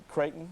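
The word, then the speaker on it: Creighton: Uh, you've got a bachelor of science from Kraton University out of U. I hope I pronounced that right. Uh, is that right? Kraton. That's correct.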